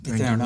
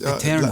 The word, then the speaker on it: Eterno: First of all, congratulations on the new album, Eterno.